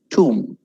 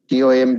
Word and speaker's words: tomb: Next is tomb. TOMB is tomb. TOOM പോലെ പറയണം. Tomb.